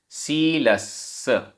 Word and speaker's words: शीलस्स: शीलस्स, आधा सा पूरा सा, शीलस्स।